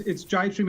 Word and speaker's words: Jibestream: Yeah, it's Jibestream, and that's actually our mapping application.